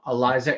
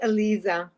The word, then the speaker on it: Aliza: worldwide it is my distinct pleasure to welcome Eliza to the conversations with Allan hello there hi thank you so much for being here it's pronounced Alisa ala ala yeah isely and it means it